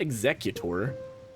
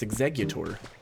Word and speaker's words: Exeggutor: I've always pronounced it like that, but that's not correct. It's not Exeutor. It's two G's. It's Exeggutor, but I feel like in the anime they pronounce it Exeggutor.